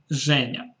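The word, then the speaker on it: Женя: If you are French or you speak French, you can easily guess why this form is pronounced like this, Zhenya.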